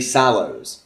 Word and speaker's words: Sallows: Bailey Sallows. That's how you pronounce it.